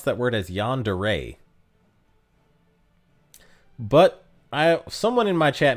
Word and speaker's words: yandere: So RJX says, soon de re and Yan de re is fine.